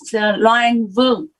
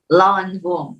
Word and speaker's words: Loan Vong: Did I correctly pronounce it? Yes, Loan Vong. Lawan Vong.